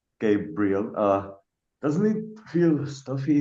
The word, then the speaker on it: Gabriel: I love my three syllable name, Gabriel.